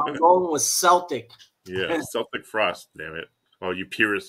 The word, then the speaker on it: Celtic Frost: I've always said Celtic Frost, even though I know it's pronounced Celtic Frost, but you know, I was thinking like this, like Frost.